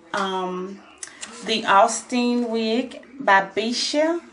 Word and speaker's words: Beshe: the austin wig by bisha bishi i think that's how you pronounce it um and i got